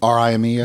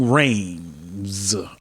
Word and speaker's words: Rhames: I don't know how it's spelled, but it's black folks. We're gonna Rimes. No, Ving Rhames.